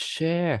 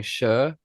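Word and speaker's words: Cher: Instagram at _ podcast oh it's share yeah it's share I should have known that because of the singer sh I've always been saying sure because that's literally how it's spelled I've already fire Harve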